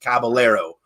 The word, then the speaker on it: Caballero: distinguished gentleman / distinguished Caballero and that's how they say in Texas Caballero so that's how I'm